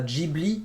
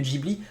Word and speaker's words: Ghibli: du Ghibli attention oui beaucoup de Français prononcent Ghibli parce que c'est GH mais c'est à cause des Japonais qui ont mis un H là où il n'y ait pas censé être en fait ça se prononce Ghibli en japonais donc voilà vous le